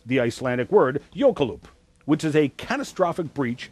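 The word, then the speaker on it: jökulhlaup: mercifully I'm on television so I have to pronounce the Icelandic word yokeloop which is a catastrophic breach of an ice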